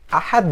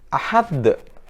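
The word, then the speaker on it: أحد: gitu ada kata-kata ahadun Ahad Jun ya Karena setelah Del ini dia adalah berhenti ayat atau kau Nisma Khan atau disukunkan maka Bacanya adalah ah the ah the tidak boleh Ahad biasanya rasa beberapa kali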